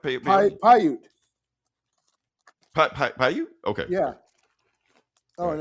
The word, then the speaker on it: Paiute: Captain Peyote. Did I say it right? Paiute.